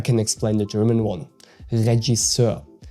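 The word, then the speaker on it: Regisseur: Regiser. Regiser. So, the G is soft like in genre and you pronounce the ending eur more like a okay than e r.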